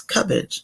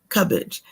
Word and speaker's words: Cubbage: And it's Cubbage, just as you read it right there, Cubbage.